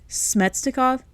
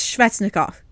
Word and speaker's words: Svechnikov: But Smetsnikov, it's Svechnikov. He's Russian. There is no M in Svechnikov.